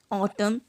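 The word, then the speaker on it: autumn: एन तब silent होता है जब कभी भी एन पेयर होता है एम और एन के साथ, जैसे कि ऑटम, कॉलम, डैम, हिम।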